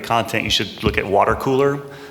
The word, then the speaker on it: WTRCOOLR: And look at, for social media to generate content, you should look at Water Cooler. It's spelled WTRCOOLR. There's a lot of companies like them that are also generating content.